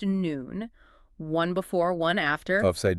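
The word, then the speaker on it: נון: The letter nonp pronounced noon.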